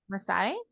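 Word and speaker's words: Marseille: in France that we don't know how to pronounce how did you say it Masai m-a-r-s-a-i-l-l-e yeah that place that's the only one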